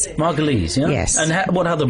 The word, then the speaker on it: Margolyes: Actually is Margal. Is that what it? Yes. Rhymes with fleas. Margales.